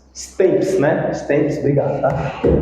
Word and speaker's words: temps: Stemps. Obrigado. Tá. Aqui, ó, sts. O P é mudo.